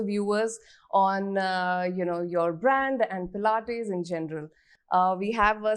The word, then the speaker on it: Pilates: Has anyone ever mispronounced the word Pilates in front of you? Always. Yes. Tell us some fun ones. Plates? All the time. It's plates, it's pilates, so many variations to it.